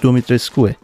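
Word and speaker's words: Dimitrescu: آره خلاصه اسم دیمیترسکو یا دومیترسکو تلفظ درستش، اسم رومانیایی عزیزان و تلفظ درستش دومیترسکوه، ولی خب توی بازی ایتن میگه دومیترسک و اون هاش خانم موجی هم میگفت.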